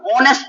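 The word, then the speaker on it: honest: इसको ऑनेस्ट पढ़ते हैं। ऑनेस्ट क्योंकि इसमें एफ साइलेंट होता है।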